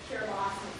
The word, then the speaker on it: Kiribati: And then just to orient you to the pronunciation, this is the Gilbertese pronunciation where your T's become S's, so it's Kiribati and Christmas.